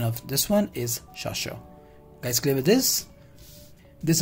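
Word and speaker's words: chasseur: madida then we have shasher this is not chasho it's sasha it spells like experience like sha let's see it sasha clear the pronunciation of this one is shasha let's play with this these are the expandable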